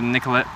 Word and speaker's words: Nicolette: weeks we have nicolette avenue which is pronounced nicolet pronounces nicolette yeah yeah